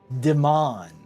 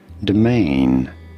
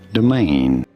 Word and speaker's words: domain: Domain. Domain. Domain. You do want to stress on the second syllable on the main syllable. Domain.